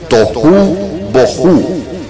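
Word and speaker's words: תהו ובהו: Las palabras desordenada y vacía en hebreo se pronuncian tohu bohu, que significa desolada, azotada, corrompida, desértica, vana, despreciada.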